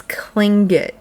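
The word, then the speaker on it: Tlingit: Like I said, it's Clingit.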